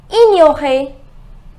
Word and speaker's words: ignorer: Think and tell me the pronunciation. It is ignorer.